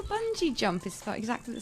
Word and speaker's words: Bungie: pronounce it have trademark you think it's going to be bungy there's no clue there that that's going to be a soft G where's the clue well like a bungee jump is about exactly